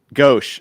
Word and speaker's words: gauche: Gauche. Thank you. That's the right way to pronounce it.